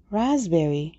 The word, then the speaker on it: raspberry: تمشک raspberry, raspberry, raspberry. با اینکه تو نوشته انگلیسیش پی داره ولی این پی تلفظ نمیشه. Raspberry.